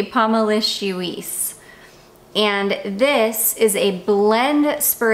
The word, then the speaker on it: Pomelicieuce: I can't even see on the viewfinder if you guys can see that name or not. I think you can. There it is, Pomelicieuce. And so she's got it written out for me here, like phonetically, Pomelicieuce.